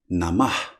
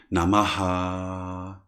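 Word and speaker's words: namaḥ: more energized so it is better to say nama than namaha like it is done nowadays but this doesn't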